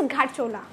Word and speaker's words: घरचोला: इसका प्रोनाउंसिएशन कोई घरचोला करता है, कोई घरचोला, कोई घाटचोला, कोई घरचोला, सो it's like pronunciation के ऊपर भी होता है। ट्रेडिशनली इट्स घरचोला, हाँ।